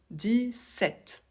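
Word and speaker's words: dix-sept: Ici, 7 commence par un S, donc on va le prononcer 10. 17. Pour la liaison, on ne la fait pas, on prononce toujours le T. Et pour la prononciation de 7, on ne prononce pas le P.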